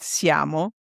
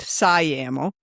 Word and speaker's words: Siamo: and it is pronounced SMO with the C like the big blue C. uh and you know ammo o um or whatever ways phonetically you want to remember that. Uh it is not siam.